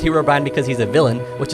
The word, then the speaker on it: Herobrine: you're pronouncing this guy's name wrong it is not Herobrine it's Herobrin let me explain you may be